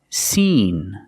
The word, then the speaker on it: seen: In sin, we use the short I sound. It's more open, I, like this is, I, sin. And seen, we use the long E sound, like green beans. Seen, but with the same N sound in both words.